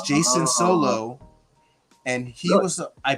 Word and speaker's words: Jacen: relation to Jason uh his name is spelled a certain way too it's spelled j-a-c-e-n and if you guys have read Star Wars books that is a reference to one of the twins of the solo Clan so I think it's Jason solo and he was